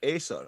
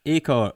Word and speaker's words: Acre: Is it Acer or Acre? Acre. What? Bojan's boy, the battler. Yeah, Acre. Yeah. Acre. Like the measurement of land.